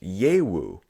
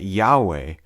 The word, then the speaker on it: Yahweh: was simply lost so there are even some scholars who have suggested that the name was pronounced yewu however the majority of linguists today agree that yahweh is most likely the way that the sacred personal name